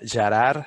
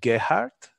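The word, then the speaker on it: Gerard: my name is uh is in Catalan so my name would read jarar but I don't expect anyone to pronounce it in Catalan uh so if you can if you can pronounce it uh for example in German that would be Gart I I believe or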